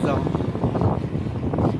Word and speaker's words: Zhon: Il mio nome è Zon. Zo. Zon. Ok, con la N in fondo, Zon.